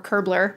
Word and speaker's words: Kerbler: So what we've been working on is an open standard, Kerb LR, or Kerbler, rhymes with Hamburglar for short, that basically just creates a way to say, here's a way we can solve the technical problem.